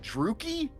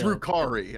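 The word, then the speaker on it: Drukhari: They might even just be agonizers, which are a weapon used by the, how do you say it? Druki? Drukari is the... Drukari. Okay, Drukari.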